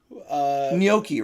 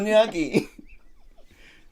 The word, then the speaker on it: gnocchi: There's no Y in it. But there's a CH. You don't even enunciate the CH on it. Yeah, there's so much that you don't actually pronounce on that thing.